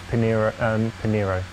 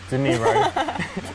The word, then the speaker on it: De Niro: And then like the Pinero. De Niro. He couldn't even say it right. De Niro, it's like De Niro and Pacino.